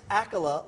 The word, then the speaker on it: Accola: Candice Accola, like Dracula.